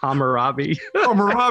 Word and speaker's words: Hammurabi: based upon the rumor robbie how do you pronounce that hammurabi there we go i was always kind of